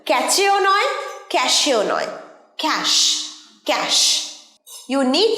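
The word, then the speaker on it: cache: বলবো ক্যাশ ক্যাশে অনেকেই উচ্চারণ করে ক্যাশে বা ক্যাচে দুটোই ভুল উচ্চারণ ক্যাচেও নয় ক্যাশেও নয় ক্যাশ ক্যাশ you need to clean ক্যাশ from your mobile coed often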